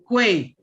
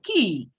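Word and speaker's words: quay: You said what? Kwe. Okay. The correct pronunciation is key.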